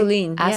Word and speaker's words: Assouline: It's Assouline. Am I Yes. pronouncing that correctly? Assouline, yes.